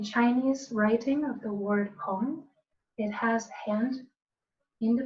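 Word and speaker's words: Peng: In Tai Chi, we're always creating what's called a Pong structure. Pong, that's spelled P-E-N-G.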